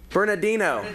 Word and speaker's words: Bernardino: say it bill I gotta get to California Bernardino Denver San Diego and Houston and then we